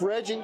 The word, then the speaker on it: Reggie: And the guy who came up with all these recipes and having them checked out is Chef Reggie, which rhymes with veggie.